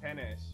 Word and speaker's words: peynir: It's actually it doesn't have an S at the end, but like they sort of pronounce an S kind of at the end of it. Peynir. Peynir. It's peynir, but they pronounce it peynir. It sounds dangerously close to penne.